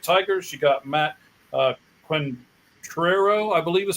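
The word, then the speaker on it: Quatraro: of the Detroit Tigers you got Matt uh quentero I believe is how you say his name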